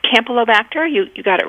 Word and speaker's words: Campylobacter: know if a kitten had for example a pronunciation campy campylobacter infection or pasterella bacteria it's campylobacter you you got it right and pasteurella so